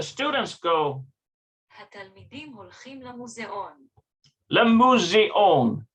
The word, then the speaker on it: למוזיאון: Lemuseon. That's how you pronounce it. התלמידים הולכים למוזיאון. Yeah, Lemuseon.